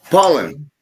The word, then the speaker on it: Palin: Pollen or Palin? Pollen.